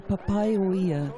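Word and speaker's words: Papaioea: Tēnā koe Mark, kōrua ko Rhys, ai o te rā koutou ngā kai whakarongo, ko papai o ia te ingoa o Palmerston North.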